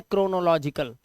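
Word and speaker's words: chronological: इसी तरह से यहां पर इसे पढ़ते हैं क्रोनोलॉजिकल क्रोनोलॉजिकल क्या पढ़ेंगे क क्रोनोलॉजिकल तो सीच जो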